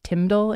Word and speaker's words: TMDL: both by the way I heard somebody pronounced this timle instead of tmdl the other day and I kind of like that so I'm going to